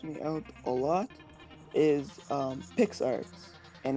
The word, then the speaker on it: PicsArt: So one of the big ones that helps me out a lot is PixArt, and it's spelled PICSART, and that basically helps me overlay other pictures on top of pictures.